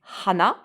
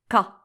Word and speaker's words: 花: We use hana and not ka.